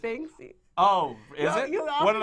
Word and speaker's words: Banksy: In the case of Bansky. I think it's pronounced Banksy.